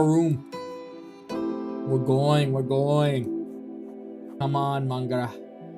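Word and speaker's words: mo ghrá: Come on, Mangra. Irish for my love. One dialect would pronounce it as Magra.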